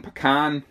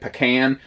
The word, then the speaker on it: pecan: to call this one pecan or depending on where you live or how you say it pecan maybe it's just how much twang you put on Pecan you know sort